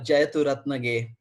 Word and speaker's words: Jayathurathnage: I will pronounce it. It's called Jayathurathnage. So it's a very long. Jayathurathnage.